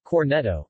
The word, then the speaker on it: Cornetto: a Cornetto Italian pronunciation Cornetto meaning little horn is